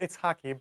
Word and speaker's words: Itshaki: Am I saying your name right? Itshaki? It's pronounced Itshaki, but it's totally fine.